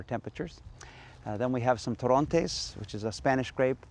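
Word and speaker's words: Torrontés: in Sp in Spanish we call it tones you emphasize you put the stress on the last syllable tones well let's try the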